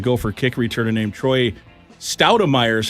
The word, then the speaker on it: Stoudemire: 4 years it's been Troy Stoudemire, and that's how it's spelled. And we listened to the voicemail. Hello, you've reached a voicemail of Troy Stoudemire.